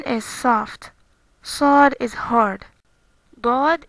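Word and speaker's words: ضاد: Dod is like the letter dal or D, but harder.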